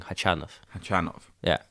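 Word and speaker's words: Khachanov: off but I'm saying chi-chan off Tran off yeah I'm pretty sure the stress on the second syllable I mean it's it's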